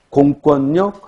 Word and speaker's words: 공권력: 대관령 할 때는 리을, 리을, 유음화가 일어나지만 공권력 할 때는 니은, 니은, 비음화가 일어난다.